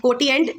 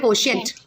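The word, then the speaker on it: quotient: नाउ 9 is your कोटिएंट, spelling याद करने के लिए, बट वैसे बोलना है कोशिएंट।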